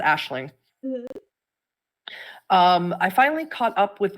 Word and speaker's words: Aisling: And it's pronounced Aisling.